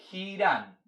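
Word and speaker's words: חירם: Hiram aparece en su Biblia escrito con H, y en hebreo la palabra es con J, y se escribe Hiram, ¿ya?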